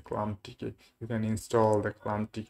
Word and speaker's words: ClamTK: Any kind of Linux, you can download the ComTalk, ClamTK. Yes, the pronunciation is the ClamTK.